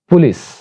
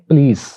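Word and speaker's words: police: next word है वो भी बहुत ज्यादा गलत प्रोनाउंस होता है और इसको ऐसे प्रोनाउंस करते हैं पुलिस, जबकि सही प्रोनाउंसिएशन ये है प्लीज, प्लीज, प्लीज यानी पे के ऊपर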